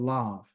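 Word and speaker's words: לב: Okay, to be honest with you, the word for your heart or your mind is called lav, L-A-V. Okay, which is lav. Okay, in Hebrew it is a L-A-B, but they pronounce the B sound as a V sound.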